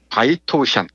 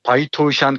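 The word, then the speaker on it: 白头山: 기백이 넘치는 한국 호랑이로 성스러운 바이토우샨, 이 백두산의 중국식 발음입니다. 바이토우샨 꼭대기, 위대한 용의 정령이 사는 동굴에서 숨을 거두었다.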